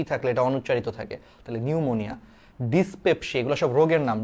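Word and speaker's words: pneumonia: আগে একটু দেখো নিউমোনিয়া নিউমোনিয়া বানানের সামনে কিন্তু একটা পি আছে এটা তোমরা অনেকেই জানো কিনা জানিনা ওই সেইম ওই যে সুনামির মতো সামনে টি যেমন অনুচ্চারিত থাকে নিউমোনিয়াতে ঠিক তেমনি ভাবে সামনে পি থাকলে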